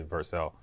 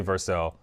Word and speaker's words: Vercel: I don't know if you pronounce it Vercel or Vercel, but I think it's Vercel. So I talk to them a lot, and they always say Vercel. So I'm gonna say Vercel.